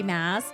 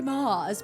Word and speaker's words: Maas: Maas. I thought it was pronounced Sarah J. Maas. This entire time I was like, oh, her name is Sarah J. Maas, but it's really Sarah J. Maas.